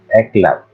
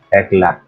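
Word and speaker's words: éclat: may French perfume ng ang tatak ay eklat so ekla silent Te kaya ang taong maarte ay tinatawag ng mga Pinoy na eclat pronounce the tea ngayon Kapag maraming teche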